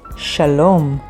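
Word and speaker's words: שלום: is one of the most famous hebrew words shalom which means either hello or peace and it is spelled with shin lamed vav meme sofit shalom the next word is so yummy chocolate which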